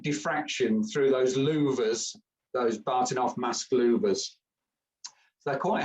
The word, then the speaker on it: Bahtinov: These things are called Bartinov masks, and that's spelled Bahtinov, invented by some Russian geezer.